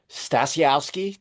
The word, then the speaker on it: Stasiowski: since the beginning and his name is stasiowski did I did I pronounce it right was I close Perfect